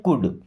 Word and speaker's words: could: पहली बात तो इस कुड में जो एल लगा है वो होता है साइलेंट। कुड नहीं पढ़ते क्या पढ़ते हैं? कुड।